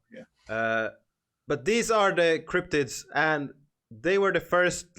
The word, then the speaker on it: cryptids: This is the cryptids or cryptid. I don't know how should you pronounce them? Cryptids. Because I said cryptidis, and that's almost right.